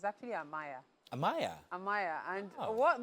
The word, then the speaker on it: Amaya: Amaya. So that's Yeah. actually the correct pronunciation. Ah, Maya.